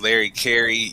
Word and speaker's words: Larry Carey: you for being here my name is Larry Carey yes it Rhymes I am a district